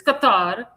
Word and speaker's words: Qatar: That's how that's how the Arabs pronounce it. It's Qatar.